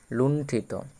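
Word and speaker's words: লুণ্ঠিত: আর বাকি যে অংশটা আছে ঠ হসত ঠিত লুন্ঠিত তাহলে আমরা যুক্ত বর্ণ কি কি পেলাম কর্ধেরন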